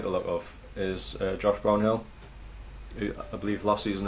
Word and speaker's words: Brownhill: Did you call him Josh Brownhill? Brownhill. Alright. Brownhill. I was putting on the Burnley accent. Brownhill. Don't pronounce the H.